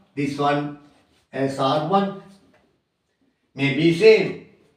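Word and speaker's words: -one: Spelling O-N-E, on. Pronunciation is not one, on, according to the UPAC nomenclature.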